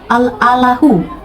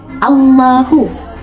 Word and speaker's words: Allahu: bacanya kayak misalkan nah Kalau tidak ada tasdid kita cuman bacanya alahu nah tapi karena dia ada tasdid jadi l-nya diblekan jadi Allahu nah seperti itu ya Ini